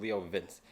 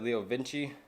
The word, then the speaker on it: Leo Vince: i did find out it was called leo vince i said leo vinci that's because the owner that sold it to me pronounced it that way so i'll say you